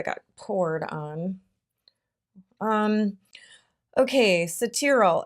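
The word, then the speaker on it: Cetearyl: poured on um ok cetera alcohol is how you say it and that is a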